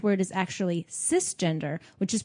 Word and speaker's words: cisgender: However, the correct word is actually cisgender, which is pronounced like sister, not cyber.